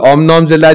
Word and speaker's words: omnomzilla: मैं it's like eating ओम नॉम वो से ओम नॉम जिला बिल्कुल। ओम नॉम जिला जो है वो समझ ले एंड वाला गॉडजिला है, शुरू वाला जो है